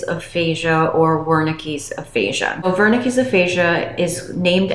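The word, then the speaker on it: Wernicke: In today's video, I will be going over the difference between Broca's aphasia and Vernick's aphasia, also sometimes pronounced as Woricky's aphasia.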